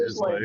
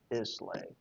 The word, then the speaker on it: Islay: Yeah, it's Isla. Isla. Yeah, like Isla Fisher.